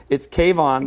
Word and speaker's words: K-von: Kayvon.